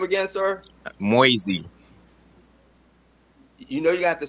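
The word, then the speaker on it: Moysey: yeah absolutely and your last name again sir moisey you know you got to spell that for me m-o-y-s-e-y okay um thank you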